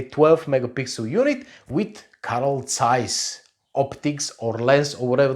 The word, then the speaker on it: Zeiss: got the same glasses overhead size not Zeiss I know very well what is the German pronunciation about it it is size take it or leave